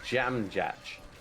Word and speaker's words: Dziamdziak: so this is nothing it's Jam Jack that's how you pronounce it I know can I say it again like jam on toast ah yeah that's good